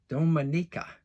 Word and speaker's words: Dominica: right i'll see there dominica dominica i know i said it right because i spelled it out phonetically for myself dominica all right you're